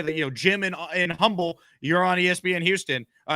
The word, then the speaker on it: Humble: it's called humble texas it's spelled humble h-u-m-b-l-e but the h is silent so it's humble texas